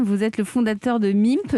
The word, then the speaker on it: Mimpe: Vous avez 25 ans, vous êtes basé à Rennes, vous êtes le fondateur de MIMP. MIMP, ça s'écrit M-I-M-P-E.